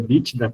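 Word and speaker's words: EBITDA: financeiro, que é o EBIDA. H, tem gente que pronuncia Bídda também, mas enfim, é um uma nomenclatura estrangeira a meio a critério de vocês.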